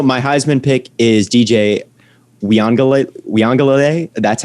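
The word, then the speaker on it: Uiagalelei: like historical also my heisman pick is dj we angle we on galilee that's how you pronounce his name the clemson guy i think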